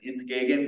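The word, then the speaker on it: entgegen: you spell it but it's pronounced something like in gagan which means against so in gagan and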